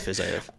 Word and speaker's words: Fiziev: Yeah, but you're about to be 0 for 2 for pronunciation. So it's Fiziev.